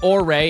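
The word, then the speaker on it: Orre: They pronounced it orray in game. Okay, that's how I've always pronounced it.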